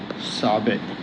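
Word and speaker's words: ثاء: এই যে জিহ্বার আগালটা উপরের দাঁতের পাটিতে লাগিয়ে উচ্চারণ করবেন এই শব্দটা, সা, সা।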